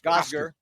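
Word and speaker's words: Gosger: Gozder. Rhymes with Moss.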